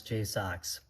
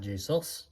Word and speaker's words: Jox: By the way, uh I have actually contacted them about how to pronounce Jox. So, it is Jox, not JS, not Jui. Jox.